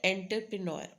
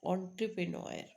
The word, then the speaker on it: entrepreneur: care entrepreneur right and sound is not entpreneur entrepreneur okay so this way you